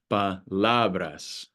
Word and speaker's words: palabras: Palabras, palabras. So it falls on the second to last syllable, on that second A.